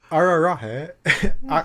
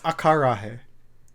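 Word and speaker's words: acarajé: Ararahe. Oh wait, it's akarahe.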